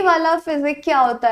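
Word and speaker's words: physique: अगर ऐसा है तो ये वाला फिजिक्स क्या होता है फिर भाई? फिजिक। दोनों देखो, साउंड भी अलग है, प्रोनाउंसिएशन समझो आप। फिजिक, फिजिक्स एंड फिजिक।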